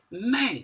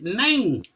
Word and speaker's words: nen: No se dice ne, se dice nen.